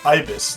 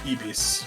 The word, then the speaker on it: Ibis: different new yeah I it is pronounced Ibis not Eis although I don't yeah I realized as I was saying it why am I saying IIs or IIs what yeah I nor exactly she's called like the bird but yeah I uh